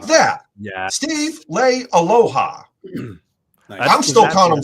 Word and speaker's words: Leialoha: I see it as Lay and Aloha. I was watching an interview with him. He pronounced it. He himself pronounced it Leialoha. Like that. Yeah. Steve Leialoha.